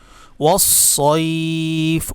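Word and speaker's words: وَالصَّيْف: ওয়াসসাইফ। অনেকেই বলেন সাইফ, সাইফ বলবেন না, সদ।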